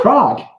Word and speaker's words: Prague: Prague. Yes. Prague, beautiful. Yeah, I think so. I don't know how do you pronounce that, you know?